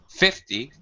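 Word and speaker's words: fifty: numbers there teen numbers um 50 all right 5050 you first syllable stress 15 you need to over over stress a little bit so that you your listener can differentiate between you know 15 and 5 don't be afraid to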